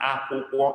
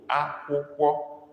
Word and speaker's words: akwụkwọ: UMU dot under the two U's, and then akwụkwọ is spelled AKWU KWO. Akwụkwọ, but dot under the U, dot under the O.